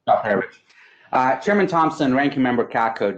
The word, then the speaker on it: Alperovitch: And I apologize if I butchered your name, but I did the best I could. Thank you, Mr. Chairman. It's Alperovitch.